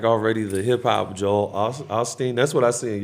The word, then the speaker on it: Osteen: the hip hop Joel Osteen that's what I see in your future for at a crystal ball I'd be like you're kind of the hip hop that's how you say his name Osteen Osteen oh something yeah